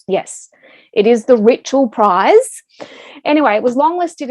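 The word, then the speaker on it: Richell: Lots of people love to say Rochelle, but it is their surname. And I even checked with Hannah on Twitter. Does it rhyme with Mitchell or Michelle? And she said Mitchell.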